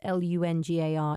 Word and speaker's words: Langar: that's sik HPA comso Sikh PA calm and longer by the way although it's pronounced Lu nga R is actually spelt with an A so it's